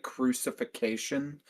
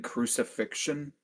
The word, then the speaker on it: crucifixion: Did the Christian in the room just pronounce it crucification rather than crucifixion?